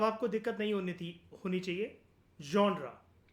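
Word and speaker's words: genre: जॉनरा, इसकी pronunciation होती है जॉनरा।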